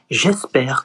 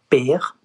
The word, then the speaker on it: j'espère: You say j'espère que ça se passera bien. J'espère, not père, que ça se passera bien.